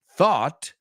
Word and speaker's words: though: thorough rhymes with burrow thought rhymes with bot thought rhymes with bot and though rhymes with show excellent Laura Chris valro